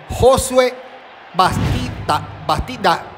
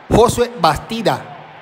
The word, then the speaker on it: Josué Bastida: Josué Bastida. Así mismo se pronuncia. Josué Bastida.